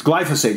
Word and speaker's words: glyphosate: a chemical called glyphosate which i've heard pronounced and mispronounced a thousand different ways yes but they said it's glyphosate so glyphosate is bad